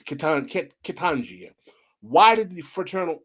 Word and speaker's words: Ketanji: I hope I'm pronouncing her name wrong. It's Ketanji.